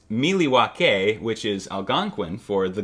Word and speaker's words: Milwaukee: in the motherland in milwaukee actually aaron it's pronounced miliwake which is algonquin for the good land i